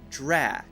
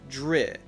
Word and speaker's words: Drax: difficult to say now Drax has an a sound so we should say ah ah drat drat so you have to be able to say drat not dread okay not dry drat drat drat like appaled rappelled rappelled Drax the last sound is also really important this is six so I've heard some people